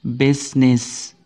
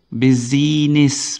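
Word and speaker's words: business: kata busines ini membacanya adalah bsnis bsnis gitu ya enggak ada bizinis bukan tapi bsnis tidak ada suara i-nya di situ Harusnya kan buiziness tapi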